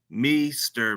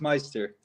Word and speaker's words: Meister: University, California, Punter Mester. Man, how's it going, bro? Did I say your last name? Uh, it's it is Meister. Meister.